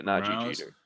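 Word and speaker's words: Nadji Jeter: Yeah, Naji Jeter.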